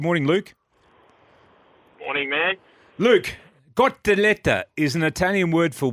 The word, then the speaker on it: cotoletta: Ben, the cotoletta is an Italian word for what? We spoke about this yet. I'll pronounce it the Italian way.